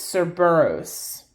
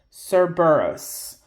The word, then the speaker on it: Cerberus: Sometimes I've seen it spelled with a K. But I think when it's a C, it's Cerberus. Cerberus.